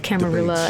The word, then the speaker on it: Camarilla: But I'm pretty sure that that is canon that you can say both Camarilla and you can say it also in like the Spanish way.